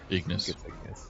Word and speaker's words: Ignis: so there we go is it ignis or how do you pronounce it it is ignis yeah a Five Spot